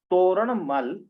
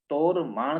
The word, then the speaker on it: तोरमाण: तो ये मिहिर कुल तोरणमल, जो तोरमाण था, तोरणमल जिसको आप पढ़ते हैं, तो उसका पुत्र था। क्या नाम है? पूरा नाम उसका प्रोनाउंसिएशन सही ठीक से किया जाए तो तोरमाण का शासक मिहिर कुल था।